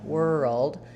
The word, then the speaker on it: world: And then as we move from the to the dark L, world, you just have a little bit of an sound there before your D. So in the IPA, you're just going to see and but as you're saying it, whirl, if you think of kind of gliding between those two sounds, it should help.